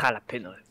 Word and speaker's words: jalapeños: Oui, c'est un J, pas un R. Ouais, c'est jalapeños.